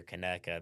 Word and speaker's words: Conecuh: in the state of Alabama, when they hear Conecuh, they think Conecuh Conecuh- County. Yeah. And if sausage. they see it from outside of Alabama, they don't even pronounce it correctly. That's right. It's everything except Conecuh.